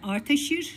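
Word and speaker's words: Ardashir: Orta Fasçada e Arteşir şeklinde telaffuz ediliyor ve kutsal padişah eee olarak eee mana veriliyor buna.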